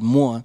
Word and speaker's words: Mua: Yeah, you know, like when you Google the word Moore, uh-huh. you'll get like... You know, right. that's how we pronounce the kiss word.